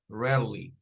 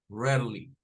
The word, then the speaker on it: rarely: dar problema de pronunciar porque sucede que no suena a a es una re así como e abierta miren re y luego unimos r no es rar es rare rar r rar r rarely rarely solo son dos sílabas Y esa se escucha